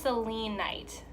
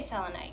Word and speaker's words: selenite: don't know okay so I think it's pronounced saline night but I'm gonna say selenite because that just sounds better to me so selenite is a